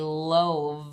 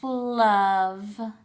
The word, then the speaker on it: love: our two oddball words the first one looks like it should be a long o because we see the magic e so we would if we sounded this out we would say love but as we know it's not love it's love o the other oddball